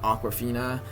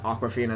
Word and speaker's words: Awkwafina: Awkwafina is spelled Akwafina. It sounds like the Aquafina water, but she spells it differently.